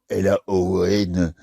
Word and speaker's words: Laon: Oh, alors après, je suis allé dans l'Aisne, à Laon, Laon, ça s'écrit comme le pan.